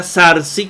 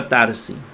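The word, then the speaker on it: θάρσει: Jesús tarzi ozarkin verdad alguien alguno lo hacen con z zarci como es el el moderno el el la pronunciación moderna tarsis pero a mí me gusta darcy Entonces tenemos tarzi y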